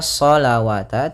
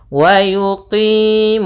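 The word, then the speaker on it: وَيُقِيمُونَ الصَّلَاةَ: Kemudian di sini bukan dibaca shawata, tidak. Tidak boleh dibaca shawata karena di sini ini penulisan rasemnya. ketika penulisan ras rasam shah itu seperti ini. Nah, wau di sini dianggap tidak ada. Wau tidak ada. Wau tidak ada dan alifnya yang saya dianggap yaitu shatta.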